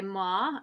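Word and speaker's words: MOAA: album euphoric recall by ma and um this uh the the artist is um all caps m-o-a-a um but i think it's pronounced ma and um the artist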